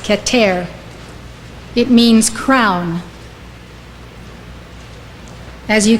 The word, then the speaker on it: Keter: spheroat is called Qatar spelled k-e-t-e-r pronounced Qatar it means crown as